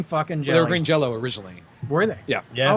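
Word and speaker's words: Green Jellÿ: still pronounced green Jello.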